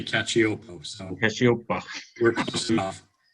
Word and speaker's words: Cacioppo: Cacioppo. Say it again. Cacioppo. Cacioppo. Okay, I'm from Pennsylvania, so I can barely speak correctly. That's okay. My relatives in New York would say Cacioppo, so Cacioppo.